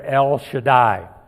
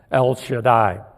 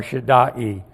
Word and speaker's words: El Shaddai: the name Yahweh, but it's rather El Shaddai, the way I pronounce it. I was told by a Bible teacher 50 years ago that probably most Bible names you can pronounce at least 3 ways properly, so that's one of the ways you can properly pronounce that, El Shaddai, or Shaddai, or whatever else.